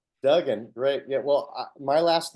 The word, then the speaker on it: Duggan: one of those things when you have two G's it's Dugen Dugen great yeah well my